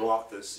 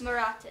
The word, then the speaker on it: Marotas: Marotas. It's Marotas. It's Spanish-sounding Portuguese.